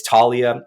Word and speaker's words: Taulia: how many people just kind of mess up pronouncing the name in itself but yeah it's uh it's Talia um you can find me on LinkedIn Eric